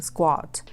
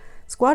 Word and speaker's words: SKWAT: is about the name Squad Squad is from the English word squat s-q-u-a-t I guess you already kind of thinking that's the same word because it's pronounced the same the meaning is to